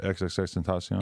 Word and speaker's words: XXXTENTACION: Yeah, XXXTENTACION.